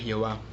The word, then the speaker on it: Jehová: propio dependiendo del idioma ese nombre se pronuncia de distintas maneras en espacio en español es jehová aunque también se utiliza llave precisamente ya ve